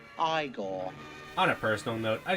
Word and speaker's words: Igor: the character being boy now it's pronounced I gone on a personal note